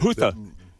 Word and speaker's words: Houthi: How do you pronounce that? Houthi.